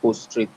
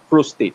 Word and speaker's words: prostate: years particularly you have to start screening for post-trade prostate cancer prostate that's the speed that's the pronunciation prostate cancer you have to start screening